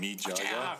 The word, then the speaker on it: Mija: You noticed how Okja and Mija, the name of the young girl, in the Korean pronunciations, it was something like Okjaya and Mijaya.